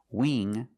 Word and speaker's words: wing: So when you see words like wing, sing, and bring, you see the combination of ing, you know it's a long E sound like green beans. Listen to the sound. Wing, sing, bring. That's a long E, not a short I.